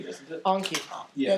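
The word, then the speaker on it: Enki: Anki. Yeah, technically it's pronounced with an A. It's E-N-K-I.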